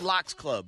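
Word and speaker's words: Lox Club: But the app is called Locks Club, and it's spelled like, the group The Lock. So, like, if you see the app and you think you're about to hear about Styles P, Jadakiss, and Sheik. Oh, like salmon.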